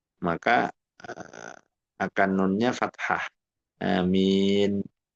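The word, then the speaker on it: آمين: Amin. Jadi e nunnya harus mati gitu ya. Harus harus sukun amin. Jangan disambung karena kalau disambung jadi nunnya di fathah liltiqoisakinain.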